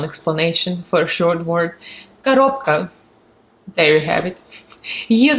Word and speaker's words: коробка: So it's in Russian is коробка, коробка. So again, the Russian R's are hard, so you have to roll them.